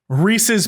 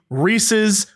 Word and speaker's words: Reese's: of it right because it rhymes with pieces no you're right you're totally right if it's really truly supposed to be reese's pieces pieces right but